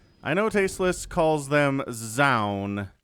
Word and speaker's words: Zoun: know tasteless calls them zoun but i have it on good authority it is joan so if you have more information than i do let me know in the comments and i'll correct my pronunciation but i'm going to call him jean okay okay so hmm